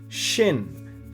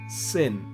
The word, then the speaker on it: ש: Shin, for example, can also be pronounced as Sin.